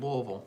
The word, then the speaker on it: Louisville: Because people think of Kentucky, they think of Louisville, and it's pronounced Louisville.